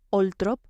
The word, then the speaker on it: Althorp: Althorp, pronunciado Oltrop por la propia familia Spencer, se convertiría con el tiempo en la sede ancestral de la dinastía.